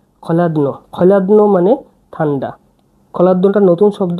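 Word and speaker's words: hladno: এবার আমরা পড়ছি খাবার ঠান্ডা, ইয়েলো যে খলাদ্ন, খলাদ্ন মানে ঠান্ডা। খলাদ্নটা নতুন শব্দ আমি পড়ে লিখে দিচ্ছি। এটা হচ্ছে এইচ, এটা খ উচ্চারণ হবে, এল এ, এটা ডি, এটা এন, এটা ও।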